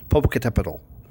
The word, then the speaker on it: Popocatépetl: list partially because it has the coolest name, Popocatépetl. Okay. It took me a long time of practice before I could say it right. Popocatépetl.